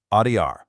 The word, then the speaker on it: odiar: Let's begin right at the lowest end of our emotional spectrum, with the verb odiar, which simply means to hate.